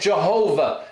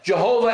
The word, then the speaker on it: Jehovah: sometimes we say it jehovah jehovah and yahweh jehovah is the german way of pronouncing because in german it